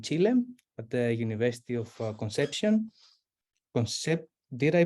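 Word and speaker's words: Concepción: her studies in Chile at the University of conception concept did I pronounce that right yeah conception sorry and um and then she also has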